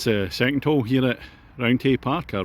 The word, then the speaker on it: Roundhay Park: That's the second hole here at Roundhay Park, or Roundhay Park, as it's pronounced by the locals.